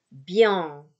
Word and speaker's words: bien: Atau kalau tadi dia terletak di akhir, ya, ini bukan dibaca bien, tapi bien, bien, ong, bien, bukan ang, bukan bieng, bukan biang, ya, tapi bien, angnya Prancis ya, bien, oke, fin, fin, bukan fem, ya, gak mingkem, M-nya nggak dibaca.